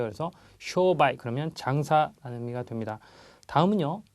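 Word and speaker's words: 商売: 있는게 많이 쓰는 말이나 쇼바이 장음이 들어가 있습니다 앞에 쇼가 길어요 그래서 쇼바이 그러면 장사라는 의미가 됩니다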